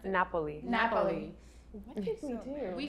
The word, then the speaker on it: Napoli: How do you pronounce it? Napoli.